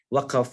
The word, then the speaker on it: Waqf: of this session is Waqf, or Waqaf, as you pronounce it in Malaysia and Indonesia. And we call it Waqf in Turkey, Waqf.